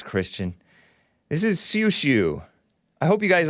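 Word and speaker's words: Xiu Xiu: Is it pronounced Shu Shu or Siu Siu? Siu Siu.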